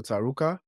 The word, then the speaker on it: Tarouca: So, again, my name is Tarouca. I'm from, and you pronounced it perfectly.